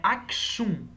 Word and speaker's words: Aksum: chamamos esse reino de assum na verdade a grafia deste reino é aksum tá mas a pronúncia pode ser acho um tá como se fosse um x ou mesmo com x e a economia do